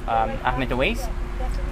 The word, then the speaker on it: Ahmed Awais: And today I'm here in Desani, California with Ahmed Awais. Did I pronounce it right?